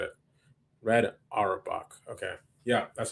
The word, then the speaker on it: Red Auerbach: Red Auerbach. Red Auerbach. Okay, that's how you said it. Red Auerbach. Okay. Yeah, that's how you pronounce it.